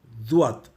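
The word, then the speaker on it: ض: இந்த நாவின் நிலைப்பாட்டிலிருந்து உச்சரிக்க வேண்டும் துவாத். துவாத். துவாத்துக்கு ஒரு விசித்திரத்தன்மை உண்டு. அது என்னவென்றால், நாம் உச்சரிக்கும் பொழுது ZUAAD துவாத் என்று உச்சரிப்போம். ஆனால் கேட்போருக்கு அது DUAAD துவாத் என்று கேட்கும்.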